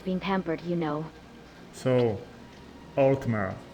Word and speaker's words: Altmer: So, Altmer, right? Is that correct now? No, still not correct at all. It's Altmer, the simple syllables.